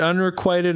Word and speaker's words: unrequited: Is it unrequited or unrequited? Quite or quit? It's unrequited.